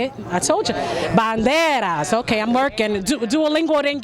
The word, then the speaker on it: banderas: Hispanic countries that we represent here with la banduras. Is that how you say it? I told you. Banderas.